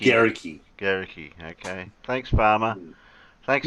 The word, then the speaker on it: Guericke: Is that how you pronounce it? Guericke. Guericke.